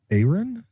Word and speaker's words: Aaron: So it's not AA, Ron. I'm confused. I always see AA Ron, and I don't know. I'm lost. But Bond, would you like to give the correct pronunciation to that one? I would say Aaron.